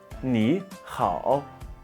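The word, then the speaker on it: 你好: de parler des tons parlons de la prononciation brute ni donc n é le n se pose comme un français et le i également donc ni ni le rao est un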